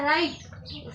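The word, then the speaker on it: right: उच्चार छान करावा लागतो जी एच म्हणाव लागत नाही डायरेक्ट काय म्हणायचं त्याला राईट म्हणजे असते ट चा पण उच्चार जोरात येतो का?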